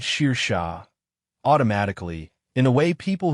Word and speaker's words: Saoirse: She said it Sheer Shah.